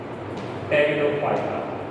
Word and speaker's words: Pteridophyta: Anyway, अब हम पढ़ेंगे pteridophyta. याद रखना P is silent. Pteridophyta. ठीक है. Whenever P comes before T, तो P loses its pronunciation.